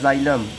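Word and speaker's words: xylem: जाइलम लगे होते हैं, एक्स वाई, इसको जाइलम बोलते हैं, भले ही जेड ना शुरू हो, लेकिन इसका प्रोनाउंसिएशन क्या होता है, जाइलम होता है।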